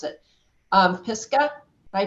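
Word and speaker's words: Pisgah: I know I'm going to mispronounce it um piska I pronounced that correctly piscal Legal Services yes yes you did yes okay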